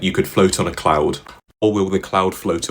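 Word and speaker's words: Khloud: Pour votre information, la société secrète de Chloé Kardaschan s'appelle Cloud. À votre attention, Cloud s'écrit K H L O U D.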